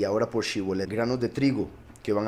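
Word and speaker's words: שיבולת: La palabra que los pusieron a pronunciar, como ya dije, Shibolet, se pronuncia Shibolet y quiere decir dos cosas.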